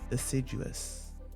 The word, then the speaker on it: assiduous: The word of the day is assiduous. Assiduous, like ass.